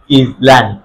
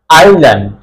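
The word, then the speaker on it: island: এস এর আগে আই থাকলে তখন এস সাইলেন্ট হয়ে যাবে। আমরা লক্ষ্য করি আই এর পরে এস আছে, আই এস সাধারণত ইজ উচ্চারণ হয়, LAND ইজল্যান্ড এমন হওয়ার কথা, কিন্তু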